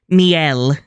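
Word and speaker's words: Mele: Mel, the second E is silent like all good little sisters should be according to Flora.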